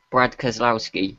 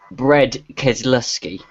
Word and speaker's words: Brad Keselowski: He called, in the middle of the race, he called Brad Keselowski Bread Keselowski.